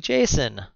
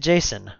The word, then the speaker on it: JSON: an array of stuff how do you say it I said Jason what do you call it JSON well how would you say it David it's like my good friend Jason all right so uh